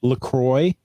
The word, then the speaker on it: LaCroix: I found out it is LaCroix, and it's purposely mispronounced from the French, even though it has a French spelling.